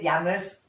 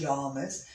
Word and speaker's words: Yamas: or yammers um and you said yammers it's probably pronounced yamas but um from abram